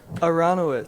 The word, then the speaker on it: Aronowitz: Aronowitz. Aranowitz, the keyboard player for Cosmic Country.